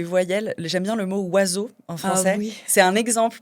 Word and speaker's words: oiseau: Là pour le coup, c'est pas vraiment des lettres muettes parce qu'on les prononce mais ces groupes de lettres o i fait wa e a u fait o.